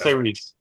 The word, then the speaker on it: Tyrese: You just put a little accent on the E. Yeah. It's Tyrese.